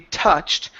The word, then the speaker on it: touched: So instead of touched, okay, this is going to be touched. We also want to work on the UR, so it's touched ter instead of tour, ter.